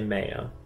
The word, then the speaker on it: Mayo: The two most prominent areas are Connemara and I would say Mayo, like what you put on your sandwich. I'm gonna guess like Mayo, but Mayo.